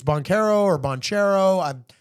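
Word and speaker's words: Banchero: their playoff prospects I think Orlando is good banero is a bad boy don't get me wrong and I hope I pronounced that name right it's bonero or bonero I'm not 100% sure you said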